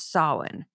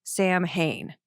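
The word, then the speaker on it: Samhain: Now, after the Misfits, he was in a band called Sin. And sin, if you look at it, if you don't know this, it's spelled, it looks like Sam Hayne.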